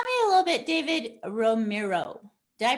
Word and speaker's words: Romero: So tell me a little bit, David Romero. Did I pronounce that right, first of all? Yeah, it's Romero.